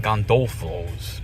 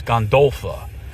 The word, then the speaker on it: Gondolfo's: I keep saying Gondulos, but it's Gondula.